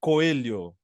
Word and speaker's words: Coelho: there the the the the right pronunciation would be coelo coo Okay coo coo which